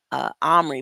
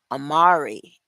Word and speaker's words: Amari: For some reason, I keep wanting to say Omri, but it's Amari and the Night Brothers.